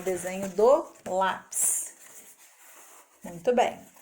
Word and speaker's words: lápis: Lembrando que ele tem aí, ó, o acento agudo para ficar forte.